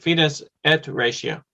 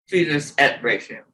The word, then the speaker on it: fides et ratio: And it was fides et ratio. Is that right, Sebastian? The way I said it? Right, fides et ratio. Fides et ratio.